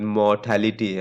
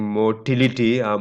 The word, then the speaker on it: mortality: is that you know the proper pronunciation of the word mortality i i hear even professors saying motility motility is what you see in sperms right motility or mortality right that's not this this mortality death rate right morbidity sick